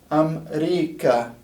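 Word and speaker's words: أمريكا: And even though this is a long A, it's actually not pronounced like a long A. It's just one of the ways the Arabic can write a word ending with an A class vowel.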